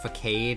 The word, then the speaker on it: facade: It's pronounced facade, as every kid who played Pokemon and didn't know what this word was knows.